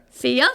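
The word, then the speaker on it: Fjalltindr: with an F it was FJ a l l t i n d r want to try I don't even know where to start on that one Fender one more time Fender Fender yes good job okay oh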